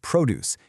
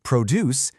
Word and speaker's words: produce: If you stress that first syllable, produce, you're talking about fruits and vegetables. But if you stress the second, produce, now it's a verb.